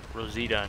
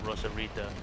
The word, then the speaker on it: Rosita: And, I found out that it's Rosita, not Rosarita. I said her name wrong. It's Rosita.